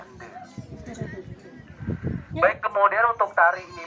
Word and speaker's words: Ende: Cuman biar terkesan beda, nggak sama kayak di Flores kita bacanya pakai huruf e, jadinya ende.